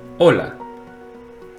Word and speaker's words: hola: In Spanish, it's silent, as in hola.